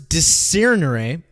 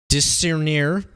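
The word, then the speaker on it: discernere: from the latin words de sirinere excuse me i pronounce that incorrectly dis sir near to set which means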